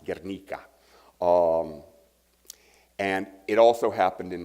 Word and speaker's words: Guernica: famously and infamously are treated by Picasso in Guernica more from it more appropriately pronounced Guernica and it also happened in Madrid fortunately this